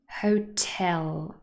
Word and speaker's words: hotel: with two syllables but they are all stressed on the second syllable event hotel police so they do